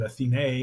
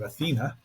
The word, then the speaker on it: Athena: I mean, the movie's pretty true to it, except that they pronounce it Athene instead of Athena.